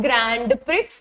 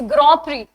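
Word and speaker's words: Grand Prix: एंड so Charles लेकर सो these are all formula one drivers right so now this is नॉट ग्रैंड प्रिक्स इट्स ग्रोरी इट्स ग्रोरी again it's a foreign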